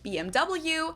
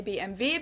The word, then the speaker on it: BMW: English and in German in English people say BMW in German we say BMV because W is pronounced V in German and it's it's kind